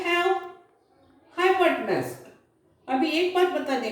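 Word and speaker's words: hypotenuse: अभी ये ई को आपने प्रोनाउंसिएशन नहीं करने का और ये ओ को ए करके प्रोनाउंसिएशन करने का, हाइपोटेन्यूज.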